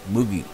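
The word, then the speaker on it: Mucki: One was a rabbit named Moogie, that's spelled M-U-C-K-I, Moogie, whose breed was a Dutch miniature, and a wire-haired terrier named Max.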